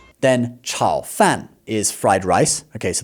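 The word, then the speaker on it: 炒饭: Then, chao fan is fried rice. Okay, so the word chao means to fry. So, this is also third tone and then fourth tone, okay?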